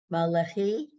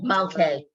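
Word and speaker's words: מלכי: why are you giving the lam its own sound, its own vowel? It doesn't have one. So what do you do with it? Malche. Malche. Okay. That's right. The llama didn't have a Okay. vowel. It goes to the guy ahead of him, and that becomes a syllable.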